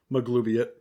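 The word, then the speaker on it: Maglubiyet: pleases the warlike magubliet maglubiot i said it right that time my glubiate is glue in it maglubian you spelled it wrong in your notes dan it's maglubiot the l's before the u yes oh dang it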